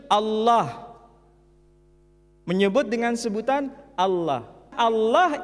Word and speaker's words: Allah: ha dibaca Allah Tetapi mereka serempak menyebutnya dengan pronunciation Allah menyebut dengan sebutan Allah Allah ini tidak dikonstruksi